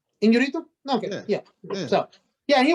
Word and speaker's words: Iñárritu: Iñárritu. Iñárritu?